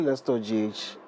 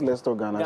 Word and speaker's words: Let's Tour GH: It's actually Let's Tour GH. Let's Tour GH, Yeah, not Let's Tour Ghana.